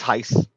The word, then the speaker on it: Heise: Is it Heiss or Hees? How do you say your name? It's Heiss. Heiss.